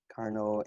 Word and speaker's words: Carnot: So this French guy pronounced Carnot, right?